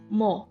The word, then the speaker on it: 뭐: Okay, these are one of the most common question words.